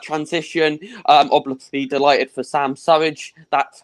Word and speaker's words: Surridge: Obviously delighted for Sam Surridge. That's how you pronounce his name.